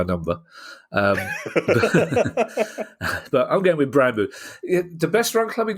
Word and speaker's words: Brøndby: And finally, Kieran, a new study has found that Brandbu is the best run club in Europe.